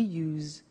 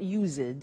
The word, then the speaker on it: used: don't have now we use used to look at the spelling s it's it's u e d and then t o but the pronunciation is not used it's us unusual used okay so the